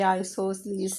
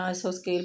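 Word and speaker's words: isosceles: वो आपको कह रहे हैं कि ये आइसोसेलेस ट्रायंगल है। पहले मैं आइसोस्केल पढ़ती रही हूँ। ये आइसोसेल्स कह रहे हैं कि वो ट्रायंगल है। इसके मुख्तलिफ प्रोनाउंसिएशन थी अंदर।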